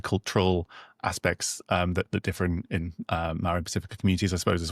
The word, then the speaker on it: Māori: Yeah, you kind of have to roll your R's a little bit. Māori. I'm Māori.